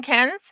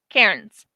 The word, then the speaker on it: Cairns: Anyways, over in Cairns, don't call it Cairns. I'm going to let you know that now. People will look at you weird in Australia if you say Karens. Karens. That's how you say it. Karens.